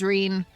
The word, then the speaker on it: Reen: how sharp I didn't know if it was Reen or Ren. It's Reen. Cool. It actually is how it's spelled.